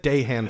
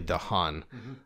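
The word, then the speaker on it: Dahan: right yes okay good I said de hand for the longest time and then I'm like eh it's probably de Haan I think those little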